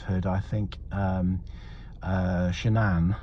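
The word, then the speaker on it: Shanann: I think um uh shanan uh that's how you pronounce it apparently like Shenanigans um was probably somebody quite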